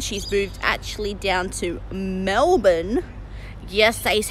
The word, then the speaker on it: Melbourne: moved actually down to Melbourne yes ace how you say it Americans its Melbourne not Melbourne it really annoys me